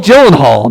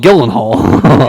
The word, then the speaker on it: Gyllenhaal: the name again yes Jake Gyllenhaal not Jake Gillen Hall okay okay Jake what the jillen hall jillen Hall really that's how you pronounce it like Maggie Hall okay with Jeep for